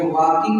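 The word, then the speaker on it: walking: वॉकिंग माने टहलना होता है, इसमें वॉकिंग में यल साइलेंट। हाँ, वॉकिंग, टॉकिंग सब में यल क्या होता है, साइलेंट।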